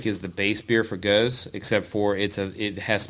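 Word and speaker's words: Gose: And then what you're talking about is a Belgian style called Guz. That's how you pronounce it, Guz. But a lot of people say Guz.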